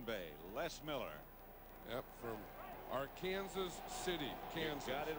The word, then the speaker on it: Arkansas: Yep, from Arkansas City, Kansas.